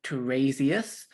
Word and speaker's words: Tiresias: The font should be Arial or Tiresias, which is spelled Tiresias.